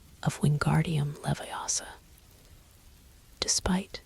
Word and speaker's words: Leviosa: proper pronunciation of Wingardium Leviosa. Despite not having had that lesson yet, "It's Leviosa, not Leviosa," Hermione insisted, demonstrating the wand movement she'd learned from their textbook.